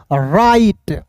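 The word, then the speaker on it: write: डब्ल्यू आर आई तो W silent करेंगे। आर आई टी ई को पढ़ेंगे दोस्तों? राइट।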